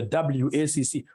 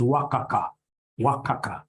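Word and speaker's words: WACC: companies you'll get somebody instead of pronouncing this thing professionally as wac you get somebody calling it waka waka no no no no that's very unprofessional it's supposed to be wac is supposed to be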